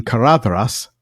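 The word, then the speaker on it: Caradhras: and he tells us dh represents the soft voiced the of English these clothes. It's usually related to D as in cinderin galav glossed tree compared with qua alder but is sometimes derived from n plus r as in karadras red horn from karan ras.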